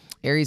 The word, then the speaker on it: Aries: Today we talking about Vlad TV versus Aries Spears. I think that's how you say his name. He's a comed. Yeah, it is Aries because that's his zodiac sign. He said that Aries is a comedian.